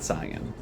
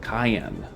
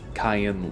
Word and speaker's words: Cyan: his name is not Sayan in the Japanese his name is pronounced cayenne and then romanized as in Cayenne like the pepper so don't worry I